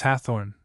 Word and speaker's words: Hawthorne: Sims, however, in his preliminary letter refers to the fact that the universal pronunciation of the name in Raymond was Hawthorne. the first syllable exactly as the word hearth was pronounced at that time.